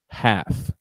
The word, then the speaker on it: half: Como que eu pronuncio essa palavra? Half.